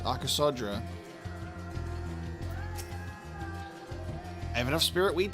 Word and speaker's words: Arasodra: So, it's not Aasodara with the you remove one of those letters. Arasodra.